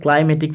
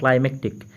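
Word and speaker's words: climactic: বুঝতে পারছো এটা কিন্তু ক্লাইমেটিক নয়। অনেকে হয়তো পড়তে ভুল হতে পারে, ক্লাইমেটিক পড়তে পারো, কিন্তু এটার মানে কিন্তু এটা নয়। দেখো এটার উচ্চারণটা ক্লাইম্যাটিক এবং এই শব্দটার মানে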